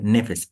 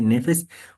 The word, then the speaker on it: nefes: el cual es nefes así se escribe nefes n e f e s nefes o nefes según la la pronunciación pero que vasar va